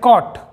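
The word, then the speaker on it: caught: मतलब होता है पकड़ा तो यहां पर दोस्तों जी एच इन सभी जगह पर साइलेंट है चलिए दोस्तों और एग्जांपल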